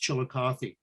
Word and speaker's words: Chillicothe: the city of chillicothe the name chillicothe itself is a is a shawnee name chalgotha and it was anglicized to be pronounced chillicothe likewise there was a